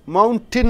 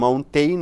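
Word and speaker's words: mountain: மவுண்டின் என்று சொல்ல வேண்டும். மவுண்டெயின் என்று சொல்லக்கூடாது உச்சரிப்பு. மலையை மவுண்டின். டிஏஐஎன் டின் என்று உச்சரிக்க வேண்டும்.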